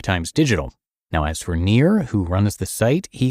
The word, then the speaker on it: Nir: And please note that Near is spelled N I R like his name.